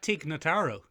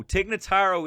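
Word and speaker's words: Tig Notaro: no matter what happens is that teknotaro no tignotaro is the escape pilot okay okay there's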